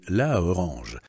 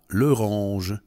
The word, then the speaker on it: l'orange: В «la» выпало «а», с тем, чтобы удобнее было произносить не «la orange», а «l'orange». То же самое произойдет и с определенным артиклем мужского рода.